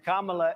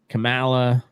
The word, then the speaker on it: Kamala: And Kamala is allowing it to happen.